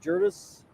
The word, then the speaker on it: Gerdes: Last name Gerdes, pronounced Jurdis.